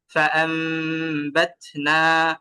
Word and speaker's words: فأنبتنا: ফাআমবাতনা, এইভাবে উচ্চারণটা করতে হবে।